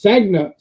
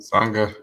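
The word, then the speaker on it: Sanga: Then there's Sagna. I'm pronouncing the name all wrong. Sangha. There we go. Because he's Sangha.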